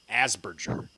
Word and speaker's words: Asperger: Just a reminder, it's pronounced Asperger.